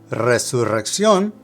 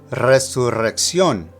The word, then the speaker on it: resurrección: Resurrección is a little trickier. Now note that there's an accent on the letter O, so that's where the emphasis of pronunciation is located. Also, you have two different trills of the R, one at the beginning of the word and the other at the double R.